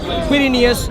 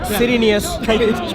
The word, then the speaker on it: Quirinius: That's a Q. Quirinius, Cyrenius. Pronounce as you please.